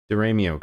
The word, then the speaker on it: Deramio: Christian Deramio for $2 says, you pronounced it correctly. Most people don't. Oh, cool. Deramio, gotcha.